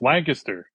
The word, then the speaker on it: Lancaster: Lancaster studio in Lancaster. Lancaster. It's Lancaster. Come on, you people. Lancaster. Lancaster. Lancaster, Pennsylvania. Sorry, they can't annunciate in Pennsylvania, but it's Lancaster.